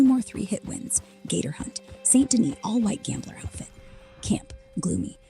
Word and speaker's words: Saint Denis: Saint Denis. Pronounced Saint Denis.